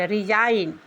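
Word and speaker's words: resign: एन से पहले आने पर एग्जांपल में है आर ई एस आई जी एन रिजाइन।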